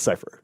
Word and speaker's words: Cyphre: they feel real well he pronounces it like all sort of French and stuff yeah and then and Robert DeNiro corrects me he's like no it's cipher yeah he keeps pronouncing